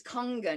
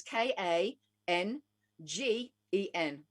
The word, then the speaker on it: Kangen: g e n hunger it looks like kangen but it's pronounced kongan because it's it's japanese i'm gonna look into